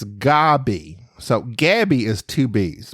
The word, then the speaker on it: Gaby: Gabby okay well Robin you spelled my name wrong I only have one B it's g a b y I understand I understand that's that seems to be tle typical but it's it's Gabby so Gabby is two